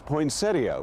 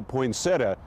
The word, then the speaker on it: poinsettia: out west the plants have always been known as poinsettia which does sound a bit affected back east they say yo get me a poinsettia dropping the ia ending for an a only either pronunciation is acceptable both are used interchangeably and what we always